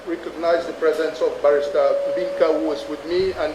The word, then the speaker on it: Mbinkar: So let me just go back and recognize the presence of Barrister Binka, who is with me, and Barrister Achiri, who are also with me on the file, sir. And Binka is spelled Mbinkar, and Achiri is spelled Achiri.